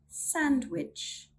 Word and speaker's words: sandwich: We do not sound the D when it comes before an N or G. Here's some examples. Wednesday, Wednesday. Sandwich, sandwich.